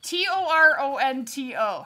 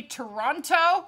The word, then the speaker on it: Toronto: tv and they say toronto it's like no you are not from there it's toronto there's the second t is not pronounced you got a 271